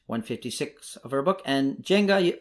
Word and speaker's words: Jenga: of our book and jenga i think you could pronounce it yenga too in the original language collapse occurs when we